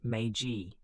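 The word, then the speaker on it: Meiji: The Magi Restoration, pronounced Magaji, as this revolution came to be called officially returned power to the emperor.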